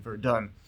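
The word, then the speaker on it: Verdun: such a famous battle it's come to have its own English pronunciation veran the Battle of verun during the first world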